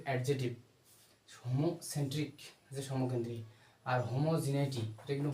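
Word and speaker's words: homogeneity: সমকেন্দ্রিক এটা কিন্তু adjective Homo centric সমকেন্দ্রী আর হোমোজিনাইটি এটা কিন্তু বানানটা এটা কিন্তু প্রোনাউন্সিয়েশনে অনেক ইম্পর্টেন্ট হোমোজিনাইটি জি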